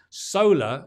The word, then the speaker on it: solar: pronounce the R so only when there's a vowel in the next word you will pronounce that R okay solar uh solar